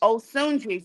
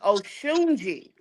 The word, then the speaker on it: Osunji: So I am pronouncing it wrong. The Africans told me my name is Oshunji. Oh But Shunji. yeah, but my grandmother named me Osunji.